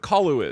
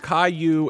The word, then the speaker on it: Caillou: do you know what kalu is you don't know any media at all how would you know this one random child character it's not random what it's pronounced Caillou and he's an internet